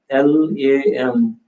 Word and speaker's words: lam: the Bij mantra Lam, L-A-M, Lam. When you pronounce it, it's two-syllable mantra. When you spell it in English, it's like L-A-M.